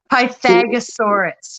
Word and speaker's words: Pythagorasaurus: but kind of like Worcestershire, it's just pronounced Pythagosaurus. You just ignore the aura in the middle.